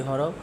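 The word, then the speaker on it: ح: জিম হা এর উচ্চারণটা হলো গলা আমরা যে কন্ঠনালী আছে এটার মাঝখান থেকে একটু চিপা দি হা খ এর উচ্চারণটা কিভাবে হবে?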